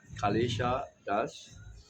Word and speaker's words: Kalesha dasa: Harrishna pronounc my name is Kalesa Das.